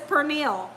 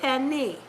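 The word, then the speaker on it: pernil: I know it says per meal it looks like you want to pronounce it per meal but you pronounce it Penny um when I make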